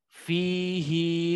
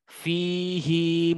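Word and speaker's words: فيه: Jadi di sini dibaca panjang fihi muhana . Sekali lagi fihi muhana.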